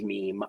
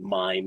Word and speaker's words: mime: taking a mime class which she pronounces meme i have never heard pronounced mean in my life and i actually studied mime in theater school and even the most pretentious of teachers did not produce it pronounce it meme so i don't think